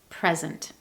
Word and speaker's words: present: In those 2 words, the stress is on the first syllable, present. In contrast, when the stress is on the second syllable, we say present.